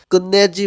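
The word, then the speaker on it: 끝내: মানে হচ্ছে শেষ করা ত ধ্বনির বাচ্চিম অর্থাৎ থিউতের পরে যখন নিউন আসে তখন এই ত ধ্বনিটাও ন এর মতন উচ্চারণ এখানে উচ্চারণটা হবে কুন্নে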